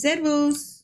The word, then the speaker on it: Servus: It's servus.